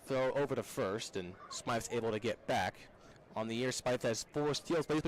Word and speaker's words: Smythe: and it's 0-1 on smite spelt with the y-s-m-y-t-h batting just under the